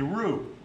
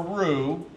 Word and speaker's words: roux: bechamel by making a roux now on your recipe there's word ro UX it's pronounced blue the X is silent it's a French word and it's the thickening